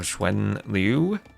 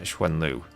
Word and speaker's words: XuanLv: It's actually pronounced Schwan or Schwenlu. I asked Heavenly Chorus and he said Schwenlu, but I'm not entirely sure.